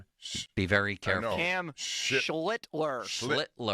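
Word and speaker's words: Schlittler: Cam Schlitler.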